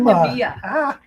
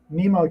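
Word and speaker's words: NMEA: It's not NEMEA. NEMA CAN bus library.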